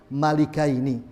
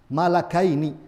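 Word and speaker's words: ملكين: menguatkan pendapatnya Ibnu Abbas bahwasanya bacanya bukan malagaini tapi malikaini dua orang raja bukan dua orang Malaikat akan tetapi pendapat jumhur para ulama mengatakan tidak bacanya sudah benar malakaini ini adalah bacaan dari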